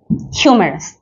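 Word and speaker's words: humorous: রসাত্মক ওকে খালি রসাত্মক বলেই হয় রসাত্মক হচ্ছে হিউমেরাস এখন এইটা কিভাবে মনে হয় রাখবো এটার উচ্চারণটা হচ্ছে হিউমেরাস কিন্তু স্পেলিংটা হচ্ছে হিউ ঠিক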